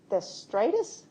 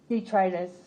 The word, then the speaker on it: detritus: You refer to insect theritis. Detritus. Did you spell that?